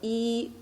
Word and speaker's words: 一: E, pronounced as E, it means the number 1.